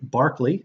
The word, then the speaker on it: Berkeley: in California but pronounced Berkeley like the former NBA player that's a British thing and the third is